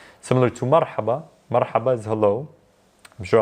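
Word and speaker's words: مرحبا: standpoint and pronunciation side, you want to tell the reader that it's actually a ha and not a ha, not an H sound. It's a ha sound. So marhaba. A few others are the 5.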